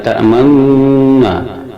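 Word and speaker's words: تَأْمَنَّا: Cara membacanya, nun bertasid ini disuarakan antara fathah dan dhamma sambil kedua bibir dimuncungkan ke depan, sehingga nun ini diuraikan menjadi dua, yang satu nun mati, yang kedua nun yang dipatahkan.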